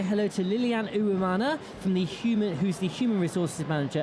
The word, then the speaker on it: Uwimana: Let's say hello to Lilian Uwimana, who's the Human Resources Manager at the Diversity Business Incubator.